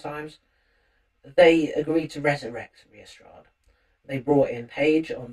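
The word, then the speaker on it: Riastrad: are going to hear from a band called Restrad, who are a sort of heavy dune band, I would say. Um, it's actually spelled R I A S T R A D, but it's pronounced Restrad.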